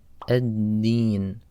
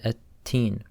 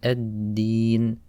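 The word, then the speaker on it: الدين: The next word is ad-Deen. On this word, the letter dal, people often mispronounce as ta. They say at-teen. So when we're pronouncing the letter dal, we don't want any air to come out. So you say ad-Deen, ad-Deen.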